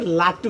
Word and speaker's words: লাটু: না মানে আমার নামটা হচ্ছে লাটু, বুঝছেন, লাডু না।